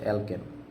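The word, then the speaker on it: alkene: যায় কিনা দেখেন ধরেন আমি এখানে লিখলাম হচ্ছে অ্যালকেন কি লিখলাম বলেন অ্যালকেন তারপরে কি লিখলাম বলেন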